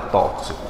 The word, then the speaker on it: tóxico: o que foi gabarito o X tem som de cs letra c tóxico é exaustivo são de